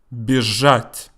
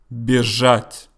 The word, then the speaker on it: бежать: Бежать. Бежать. Again, I pronounce the letter Z as Z because it's not the last letter.